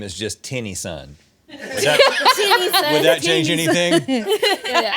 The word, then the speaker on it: Tennyson: the way you pronounce his name is just Tinny Son? Would that change anything? Yeah, I'm gonna say it's Tennyson, like Tennessee, Tennyson.